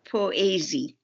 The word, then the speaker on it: poëzie: Is it called a Posey book? Is that how you pronounce it? Well, in Holland we pronounce it poëzie.